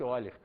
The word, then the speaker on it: Euler: Está escrito Euler, mas pronuncia-se Euler.